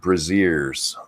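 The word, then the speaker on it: Brazzers: So it's pronounced like braziers. Okay. Really? Yeah, braziers.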